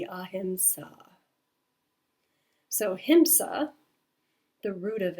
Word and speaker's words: ahiṁsā: So when pronouncing the word it would be a himsa.